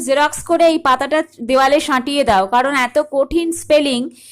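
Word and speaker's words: Synge: সিং। সিঞ্জ কোথাও কোথাও পাবে, বাট it should be pronounced as সিং।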